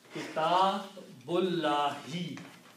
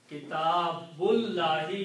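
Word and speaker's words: كتابُ اللهِ: So it becomes kitabullahi. Okay, so the correct translation, a book of Allah, is kitabullahi. You do not pronounce this alif in between.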